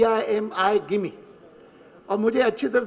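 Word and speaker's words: Gimi: बहुत बार कहते थे मेरी स्पेलिंग जो है उसके कारण लोगों को गलतफहमी होती है मेरा नाम है जी आई एम आई और वह लोग जो है उसको जिमी पढ़ते हैं और व कहते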